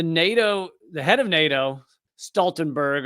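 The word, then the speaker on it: Stoltenberg: the head of NATO Stenberg although I guess it might be pronounced stalen bur or whatever wherever he you know where where he's from this interviewer Norwegian interviewer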